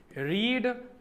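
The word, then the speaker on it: read: quit हार मान लेनी रीड रेड रेड देखो स्पेलिंग सेम है फर्स्ट वर्ड न की बोलना है रीड सेकंड एंड थर्ड न की बोलना है रेड रीड रेड रेड ए प्रोनंसिएशन है सेट है सही करना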